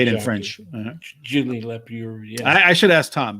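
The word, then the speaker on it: Julien Leparoux: Julien Lepereux. Yeah, I should ask Tom because Tom has all those pronunciations.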